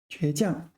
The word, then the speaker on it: 倔强: This is a 多音字. 倔强. There's 3 pronunciations, right? 将, 强 and 强. All right. So the most common one is 强, second tone, strong. The third tone is 强迫的强, compel, and this is 倔强.